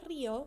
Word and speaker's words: río: La palabra río se divide en dos sílabas. Y si vemos ahí, la acentuación cae en la segunda sílaba de atrás para adelante.